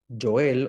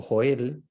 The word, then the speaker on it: Joel: Oseas, Joel o Joel, como quieran pronunciarlo, se puede pronunciar de cualquiera de las dos maneras.